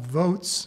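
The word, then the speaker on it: Voatz: One, a company called Votes, which is spelled V-O-A-T-Z, is being used by West Virginia right now in the election in November 2018.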